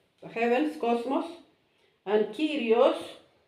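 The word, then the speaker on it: Κύριος: Cosmos is like the heavens, cosmos, and Kyrios, this you can read as an I, Kyrios, it means Señor or Lord.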